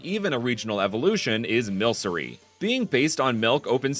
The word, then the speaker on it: Milcery: alchemic cream, just like Milcery is milk sorcery, not alcreamy.